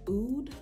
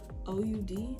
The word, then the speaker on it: oud: It's also, if you are familiar with like oud, OUD, I think that's how you say it, oud, which is a very rich, very deep scent.